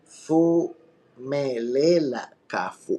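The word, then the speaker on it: Phumelela Cafu: Y'all know I fact check myself, and saying somebody's name wrong, that's the goofiest of the oofiest. You gotta respect. Hold on, my people. Fumelela Kafu.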